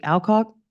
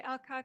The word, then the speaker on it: Alcock: a Miss Hillary and if I'm pronouncing this wrong please correct me alock hi thank you um my name is Alcock I live at 200